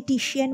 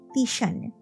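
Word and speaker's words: Titian: কবেকার তখনই বোঝা যায় ওরা যাকে টিসিয়ান বলে জানে তার নামের আসল উচ্চারণ নাকি তিশান ওরা যাকে জিওত বলে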